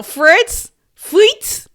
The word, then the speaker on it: Fritz: Fritz.